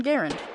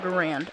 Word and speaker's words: Garand: me here's the m1 garand yep i said garand not grand sue me it's how the guy who made it pronounces it so i pronounce it the correct way screw you guys ready